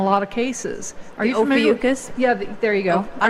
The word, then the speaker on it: Ophiuchus: sign in a lot of cases are you over yuccas yeah there you go I don't know how you say it something like that Ophiuchus yes are you familiar with that absolutely yes